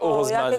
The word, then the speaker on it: Orosemane: Ça sonne, Orozman, ça sonne. Je ne vois pas. Comme heureusement. Heureusement, avec un accent du Sud.